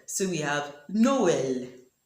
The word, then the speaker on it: Noël: In the dieresis, E sounds L, so we have Noël. Noël. And in this other word, it is pronounced naïve.